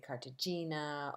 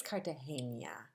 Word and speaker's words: Cartagena: a lot of them very few of them could pronounce the city right they would say Cartagena or Neutrogena it's Cartagena um if I were gonna